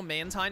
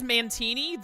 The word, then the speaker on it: Mantine: You know Mantine has 2 pronunciations? If you've met someone who says Mantini, then you better have killed them.